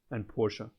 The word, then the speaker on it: Porsche: this, high-end Mercedes and Porsche. Yeah, that's how you actually say it in German, by the way. You say Porsche. I know in English they always say Porsche, but in German it's actually Porsche.